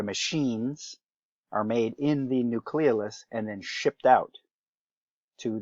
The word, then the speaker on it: nucleolus: pay attention to one is the nucleolus or nucleolus if you prefer that pronunciation nucleolus right that is